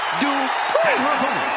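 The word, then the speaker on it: Dupri: Uh, Michael, it's pronounced Drippon from Phoenix, Arizona, Maxine Dri.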